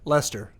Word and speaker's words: Leicester: back so uh so if they finish like Lester that's how you say it yeah Lester Lester Leicester list okay all right I'm gonna